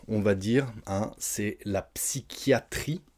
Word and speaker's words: psychiatrie: Ensuite, pour les petits problèmes dans la tête, on va dire, c'est la psychiatrie. Alors attention, P-S-Y, on prononce psy, c'est pas facile, et le CH, on le prononce que. Psychiatrie.